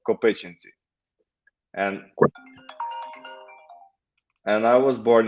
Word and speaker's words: Kopychyntsi: is called where i'm a mayor is called co-patiency and and i was born here um so